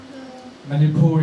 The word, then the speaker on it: Manipur: - like 24 before many poor is like Singapore you know that the pronunciation the Sun is like Singapore and yeah 24 and